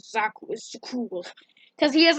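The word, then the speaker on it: Zakuul: is that on the wild space planet of Zakul, yes, that's how you pronounce it, or within the game, because Prince Arkin pronounces it like really fast, and he says Zakul is cool, because he has like a little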